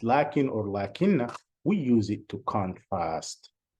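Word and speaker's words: لَكِنَّ: We say lakin or lakinna as if we have an alif here, lakin, see, lakin, but actually we pronounce the alif, but we don't write it.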